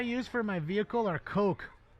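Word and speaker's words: Koch: Uh the the chemicals I use for my vehicle are coke. K O C H. Coke.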